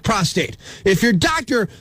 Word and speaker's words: prostate: ntpd Blue all right prostrate cancer would suggest a cancer of lying down on the ground there's only one R in the proper spelling or pronunciation of prostate if your doctor mispronounces